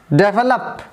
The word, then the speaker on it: develop: will have the one more example that is developed the world develop has again 3 syllables therefore luck 1 2 3 and the